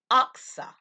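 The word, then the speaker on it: Achsah: I want you to note a woman by the name of Oxa. Oxa. I'm going to spell that.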